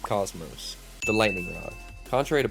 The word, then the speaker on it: Космос: IS Космос, pronounced cosmos.